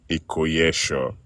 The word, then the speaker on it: Ikoyesho: Ikoyesho. The S is pronounced sh.